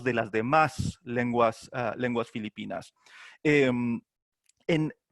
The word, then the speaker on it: Filipinas: dos son filipinos pero uno la esposa no puede pronunciar filipinas y pronuncia pilipinas y le pega y